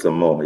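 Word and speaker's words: Samoht: um uh is that how you pronounce his name s-a-m-h-o-t it's thomas backwards samoa you're right and i'd give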